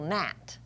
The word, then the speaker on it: gnat: sneak in on us G followed by an N says so that will always be silent some examples like Nat it's a nasty little gnat or final position sign we don't hear the G just the n continuing with lesson 24